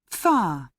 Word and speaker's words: far: far far we can it's like we don't pronounce the r no pronunciation okay let's hear it 12.